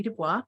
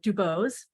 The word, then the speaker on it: DuBose: uh my name is Ronnie Dubois or Dubose doesn't matter I have no agenda about how you say my name but in different parts of the country there's it said different ways uh and I have